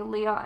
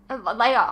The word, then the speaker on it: Leia: triangle vibes from Jay, Leah, and Gwen. As in Leia. Oh my god, did I say Leah? Jesus. Well, to be fair, you spelt it like Leah. Leia is not spelled like that.